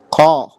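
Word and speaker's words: 코: Ko. Ya, itu dibacanya adalah ko. Ko. Ko. KH dengan O.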